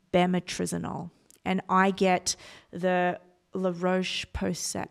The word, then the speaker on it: La Roche-Posay: and I get the La Roche-Posay. I don't know how to pronounce it, and it's La Roche-Posay. Yeah, something like that.